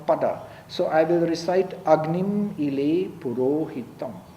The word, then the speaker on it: Agni: Do you say Agni or Agni? No, it is not Agni, it is Agni.